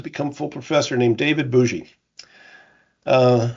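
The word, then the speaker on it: Bogy: full professor named David Bougie. Uh it's spelled B O G Y pronounced bougie.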